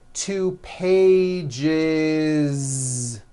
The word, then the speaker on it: pages: with that voiced Z two pages it's not two pages unvoiced no it's two pages with a voiced Z even though you spell the word like this in American English you